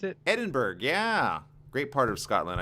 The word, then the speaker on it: Edinburgh: Is that how you pronounce it? Edinburgh, yeah.